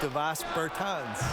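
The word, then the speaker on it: Dāvis Bertāns: Oh, well now, at this point in my life, it's Davis Bertans.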